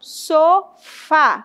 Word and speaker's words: sofá: E a oxítona é a última. Então, sofá. Sofá é a mais forte, né? O fá, na verdade, é a mais forte, é a última sílaba mais forte.